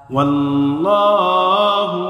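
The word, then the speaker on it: الله: আল্লাহর সাথে লামের পূর্বে জবর অথবা পেশ আসলে আল্লাহর সাথে লামকে পুর করে, অর্থাৎ মোটা করে পড়তে হয়।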